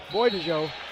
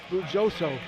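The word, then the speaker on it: Bujdoso: Talked to him before the game, Charles, and he said he's been saying his name wrong. for the last X number of years. He said he talked to some Hungarians, and they told him that his name is actually Hungarian, and now so he goes by Isaiah Boidajo instead of Bujoso.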